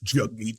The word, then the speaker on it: Jagmeet: Or the incomprehensible insistence by Jagmeet Singh, sworn enemy of the real working man, pronounced Jagmeet, that the proper role of the socialist NDP is to indefinitely prop up Trudeau's...